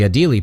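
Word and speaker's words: Adélie: The Adelie penguin, that's how you pronounce that French word, Hans, is one of those odd-looking animals due to its color pattern.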